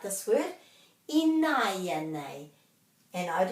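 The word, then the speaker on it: ināianei: Inaya nei.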